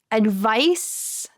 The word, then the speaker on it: advice: So advice, advice, the noun. Do you hear how it sounds with a S at the end?